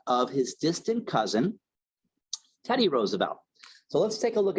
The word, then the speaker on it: Roosevelt: their names the Roosevelts of Long Island generally pronounced the name as Roosevelt and the uh the uh Roosevelts of the Hudson Valley pronounce it the correct way Roosevelt okay um so that's what we like to